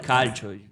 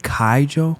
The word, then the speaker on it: calcio: We call it calcio. We don't How are you use saying it? Kaijo? calcio? Kaichu. Calcio. Like that? Yeah.